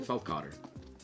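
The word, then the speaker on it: Feldkötter: our review of via apia very well said pronounce the dude's name Fel Cotter what it's Michael Fel Cotter you thought it was something else didn't you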